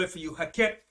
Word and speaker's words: Heket: fraud hen okay i'll spell it for you hakket it's spelled h e k e t this was the fraud god of fertility okay hakket the fertility god of egypt so the most